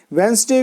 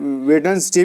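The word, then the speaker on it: Wednesday: तो एग्जाम्पल से समझते हैं, जैसे he will come on वेंसडे, वेंसडे को वेंसडे बोलते हैं गाइज, इसका राइट प्रोनाउंसिएशन है। वैसे लोग वेडनेसडे भी बोलते हैं, लेकिन ये इसका राइट प्रोनाउंसिएशन वेंसडे है।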